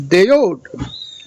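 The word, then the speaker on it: דוד: And then the dedi part is simply dal dal, which is referencing David, whose name was Deod. Okay, in when vocalized, how it was vocalized back then.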